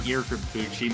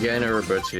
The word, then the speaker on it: Gen Urobuchi: Didn't Yurikabuchi make that, or how you pronounce it? Gen Urobuchi, yeah.